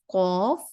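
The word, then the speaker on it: ق: Qaf is going to be a heavier letter and the Kaf is going to be a lighter letter. Okay? Kaf is with the K pronunciation and Qaf is with the Q pronunciation.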